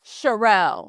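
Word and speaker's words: Sharrell: And I need your name like formally so I don't mispronounce it either. Charelle.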